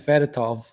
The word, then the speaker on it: Fedotov: So we got Fedotov. Did I say it right, Trav? Yes, thank you.